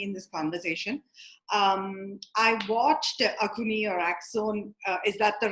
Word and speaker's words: Axone: I watched Akuni or Axon. Is that the right way to say it in Akhone, English? Akhone.